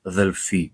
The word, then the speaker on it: Delphi: You say Delphi or Delphi, people tell me sometimes. Delphi is how it's pronounced in Greek.